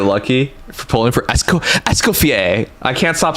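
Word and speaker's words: Escoffier: In French, the name of this legendary culinary innovator is pronounced August Esco. Escoier.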